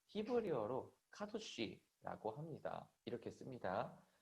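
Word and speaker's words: קדוש: 자, 히브리어로 카도시라고 합니다. 이렇게 씁니다. 자, 그 다음에 카도시라고 발음을 하고요.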